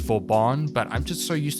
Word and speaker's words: Vauban: really want to take Vorbin out for a spin. By the way, I know the correct pronunciation for his name is Vorban, but I'm just so